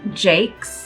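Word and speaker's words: Jaques: think that that is the way that the Brits say it anyway this is Jane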